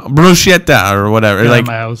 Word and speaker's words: bruschetta: you know like uh uh bruschetta or bruschetta it's like no bruschetta i live you're italian